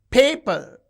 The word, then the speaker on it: paper: Paper. You can see the first syllable is stressed.